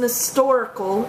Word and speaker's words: historical: The Civil War was an historical event. When historical is pronounced with a silent H, you use the indefinite article an.